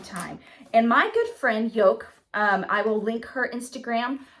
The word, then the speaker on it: Joke: And my good friend Yoke, I will link her Instagram below. Her name is Yoke, and it's spelled Joke.